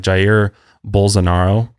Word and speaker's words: Jair Bolsonaro: His name is really crazy to pronounce. So Jair. It's like Jair Bolsonaro.